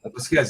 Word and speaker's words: Vasquez: Am I pronouncing his name right? Vasquez? Yeah, Randy Vasquez. Yes, Vasquez is the proper pronunciation.